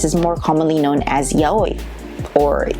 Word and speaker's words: yaoi: “O” and “i” together do not make the sound “wi” so the only pronunciation is /ya-oi/.